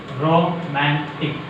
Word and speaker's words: romantic: Trisyllabic word. Second syllable from the end. What is that? Young. Romantic. Romantic. Romantic. Is a romantic fellow. Is a what is that? Romantic fellow. Here, M is a highlighted one.